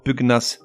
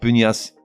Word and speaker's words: pugnace: Or, contre toute attente, certains mots se prononcent avec le G séparé du N, comme un magna, et non pas un mania de la presse par exemple. Ou encore pugnace, c'est-à-dire quelqu'un de combatif, et non pas pugnace.